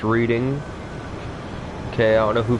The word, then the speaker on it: Reading: That's pronounced Reading.